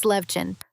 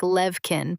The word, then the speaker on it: Levchin: Max Levchin. Some people lean a little heavy on the second part and make it sound like Levkin, but your version is totally natural.